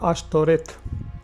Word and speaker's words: Ashtoreth: In Hebrew it is pronounced Ashtoreth.